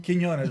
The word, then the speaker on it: Quinonez: Quinonez, Quinonez, Mike.